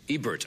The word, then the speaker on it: Ebert: we have gene siskel I pronounce Rogers last name wrong it's Ebert right Ebert Ebert I said I said and